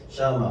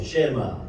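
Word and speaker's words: שמע: 말입니다.이 원인데이 샤마라고 하고 이게이 히브리 발음하는 법이 모음이 없기 때문에 샤마 혹은 쉐마 이렇게 말을 합니다.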